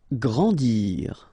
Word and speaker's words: grandir: Grandir. So remember that when you get these G and R together, you get the sound gr, okay? And after that, A-N, en. Grandir, grandir.